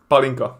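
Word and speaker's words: pálinka: you because you taste palena palinka palena palinka how do you say it palinka palinka palinka palinka palena like you you say like hey pal it's like palinka palenka yes okay palenka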